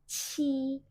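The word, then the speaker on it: 七: terus angka 7 itu kita sebut dengan ci SII Q pakai Q jadi harus keluar udara SII nadanya satu ya si untuk hand-nya seperti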